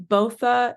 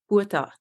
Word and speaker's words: Botha: I mean, Botha is the Canadian way. We'll go with that. Yeah. What is the proper way? Well, in South Africa, it's pronounced Botha. Oh, let's do that. Yeah, it's Afrikaans.